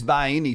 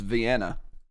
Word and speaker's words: Vienna: And it is Vienna sausages. That's how you pronounce it. I don't care what it says on the little can. People tell me it's Vienna. They're wrong. They're wrong. Completely and totally.